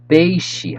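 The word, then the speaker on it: peixe: how is bread okay boom fish you say baishi how do you say fish in portuguese chicken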